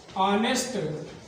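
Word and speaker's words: honest: हैं an hour, an ऑनेस्ट, एन एयर, an hour. H लिखा हुआ है, फिर भी क्या लिखा है? एन, क्योंकि H साइलेंट है।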